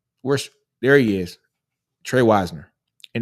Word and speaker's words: Wisner: two ago and like I kept saying Wisner and then he typed out he goes no nino it's Wisner W i- NE R say it like that Weisner so Trey Weisner Trey